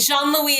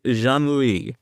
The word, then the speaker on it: Jean-Louis: not particular but it Jean Louie is the correct pronunciation but I'm not hung up on pronunciation Jean Louie yes that's right that's